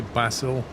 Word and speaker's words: basil: US yeah yeah say English would say bassil Americans would say basil I think that's so